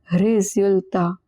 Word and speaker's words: résultat: Remember, S is in the middle of two vowels, it is pronounced as Z. Résultat.